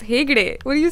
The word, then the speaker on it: Hegde: With Prabhas and Pooja Hegde, whose name I first read as Pooja Hedge.